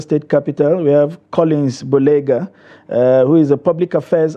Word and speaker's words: Boleigha: Save for the pronunciation of the Boleigha. It's Boleigha, not Boleigha. The G is usually silent.